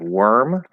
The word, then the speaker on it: worm: other cases here um this is the big exception to the or spelling where even if it's stressed it's still going to be pronounced er not or so we have words we have worm or worms if it's